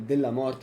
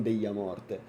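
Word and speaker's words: Dellamorte: È della morte, non deglia morte. Avevo sentito che il cognome era tipo spagnolo, deglia morte pronunciato. E invece è italiano, dicono della morte qua, cazzo.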